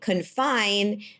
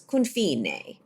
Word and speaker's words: Confine: So yes, I learned that Confine is not how you pronounce the name of the restaurant, even though it is spelled Confine. It is Confine.